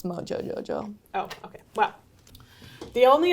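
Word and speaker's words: Mojo Jojo: I'm Ro-Jo-Jo-Jo. Oh, I've never really... Sorry, I said it wrong. It's Mojo-Jo-Jo.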